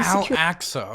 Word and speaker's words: Al-Aqsa: And then, on the last weekend of Ramadan, came clashes at Al-Aqsa Mosque, where Israeli Al-Aqsa, okay, that's how you pronounce it.